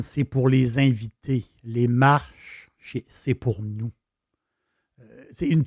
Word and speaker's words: Marche: On l'appelle, si on le prononce, les Marches. Si on le prononce en italien, c'est les Marche.